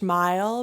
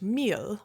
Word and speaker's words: mil: should have been saying not swedish mile but a swedish meal which is how you pronounce it in swedish and um i guess